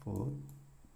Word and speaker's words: food: food이 음식이라고 한다면 food, 네, food. F 발음을 입술 깨면서 food, food.